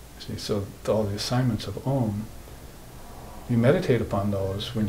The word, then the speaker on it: AUM: yoga the doctor Buddhism all talking about ohm which every monitor starts with spell it philosophically correctly AUM those are three letters a basically as your